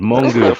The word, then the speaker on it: mongoose: A lot of Jamaican people do pronounce it like that still. Like, I thought the word was mongoose until I saw the spelling. I was like, hold on, the word is mongoose.